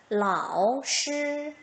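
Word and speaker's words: 老师: 만약에 반삼성이 없다면 라오시, 라오시 했을 거예요. 그런데 비경제적이다 보니까 어떻게? 라오시, 라오시 이렇게 반삼성 툭 떨어지는 소리만 하더라 라고 하는 거 기억해 주시면 좋겠습니다.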